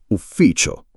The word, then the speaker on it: ufficio: Ufficio. Ufficio. Con la F doppia. Ufficio.